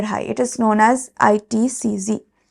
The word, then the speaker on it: ITCZ: also known as the itcz a or horse latitudes subpolar low or polar High it is known as itcz it is pronounced as Z not Zed sea breezes are characterized